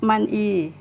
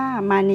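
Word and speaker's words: 많이: อ่าน ได้ ว่า น้ำ มัน อี มัน อี นะ คะ อ่ะ มี แต่ ถ้า ตาม กฎ การ เชื่อม เสียง เรา จะ ต้อง อ่าน ออก เสียง คำ นี้ ว่า มานี นะ คะ มานี ค่ะ คะ โดย แล้ว เอา ตัว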